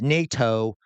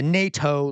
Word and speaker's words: NATO: It's easy to pronounce NATO. Why does he go with the NATO leaders?